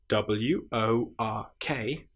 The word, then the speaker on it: work: Just to point out at this stage if you have wo r k that is pronounced work because English is so annoying.